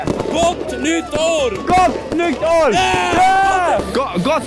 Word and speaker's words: Gott nytt år: Gott nytt år!